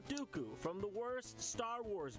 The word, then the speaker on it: Dooku: While Lee was portrayed in a number of memorable roles, such as Saruman the White, and the rhymes with Poo-Poo, Count Dooku, from the worst Star Wars movie.